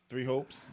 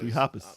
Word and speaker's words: Three Hopes: But Fire Emblem Warriors, Three Hopes, that definitely interests me. 'Cause Three Hoppers.